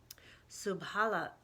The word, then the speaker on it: subhanAllah: yes mean wishing she could see it closer Subhan Allah Subhan Allah wait a second hold on I'm